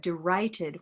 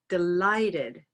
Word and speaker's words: delighted: They said derighted when they recorded it. So they need to pay attention to that with the feedback we provide. Here there's a little reminder that the L sound touches the roof of the mouth. L. Delighted, delighted. And then we go back to our overall awareness of the word, where this is actually a white tie word with stress there.